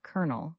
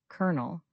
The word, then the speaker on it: colonel: N E L, but we pronounce it like kernel, like the inside of a nut. Say it with me, kernel.